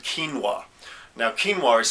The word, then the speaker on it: quinoa: And also an ingredient that originates from South America called quinoa. Now quinoa is spelled Q-U-I-N-O-A.